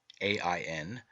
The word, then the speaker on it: Aen: In this myth, John, Aen, spelled A-E-N, E-I-O-N, and A-I-N, three forms of the word and all pronounced Ain, represents the redeemed and glorified man.